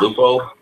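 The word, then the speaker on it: Leupold: Aren't they pronounced Lupo?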